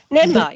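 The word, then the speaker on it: Ninmah: NIMBA, yeah. N-I-N. N-I-N. How do you spell it?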